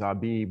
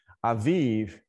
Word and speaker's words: Aviv: Sometimes we transliterate it in English as Abib with B's, but the bait, but it actually is pronounced with the V sound. Aviv.